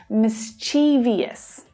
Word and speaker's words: mischievous: You might hear people say mischievous with 4 syllables, but that's incorrect. There are only 3 syllables here, and the stress is on the first syllable, miss, miss, which means the second syllable reduces a little.